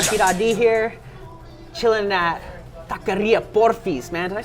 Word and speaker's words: Porfis: Chilling at Taqueria Porfis, man. Did I say that right? Yeah, you said it right. Porfis, man.